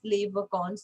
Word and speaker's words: les vacances: ये plural word है ना, तो इसलिए हम एस प्रोनाउंस नहीं करेंगे. जैसे हमने नेशनैलिटी किया था उसमें भी हमने एस प्रोनाउंस नहीं किया था ना, अगर आपको याद हो तो सेम एज les vacances.